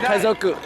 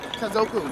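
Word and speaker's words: 家族: Kaizoku. Kazoku.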